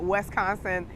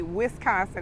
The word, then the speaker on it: Wisconsin: go to milwaukee where i didn't even pronounce wisconsin right i called it wisconsin somewhere in wisconsin it's supposed to be wisconsin and he used to